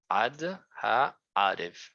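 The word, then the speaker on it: עד הערב: Se pronuncia ad ha'arev. Ad ha'arev, pues tiene pausa.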